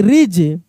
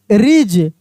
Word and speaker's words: ridge: SMUDGE smudge, smudge, ठीक ना, डी का उच्चारण नहीं हो रहा है। WEDGE वेज, क्या पढ़ रहे हैं हम लोग? वेज। RIDGE रिज, कैसे पढ़ रहे हैं? रिज।